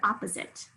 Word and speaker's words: opposite: First syllable, pause. And then here we have sit, spelled with a short I instead of a long I. It's spelled with a long I, long I spelling, but it's a short I. You can hear that schwa in that second syllable.